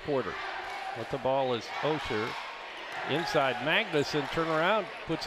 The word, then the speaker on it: Auger: Looks like Auger, A-U-G-E-R. It's pronounced Osher.